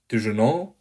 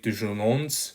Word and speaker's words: déjeunons: Déjeunons, let's have lunch. Faisons vite, let's make it fast. And remember that the final S is silent. So you're not going to say déjeunons, but you're simply going to say déjeunons, faisons vite.